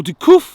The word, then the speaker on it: de Cuffe: Sir Alec Guinness CH, Order of the Companions of Honour CBE, born Alec Guinness de Cuffe, or de Cuffe as the French pronounce it, 2nd of April 1914 to the 5th of August 2000.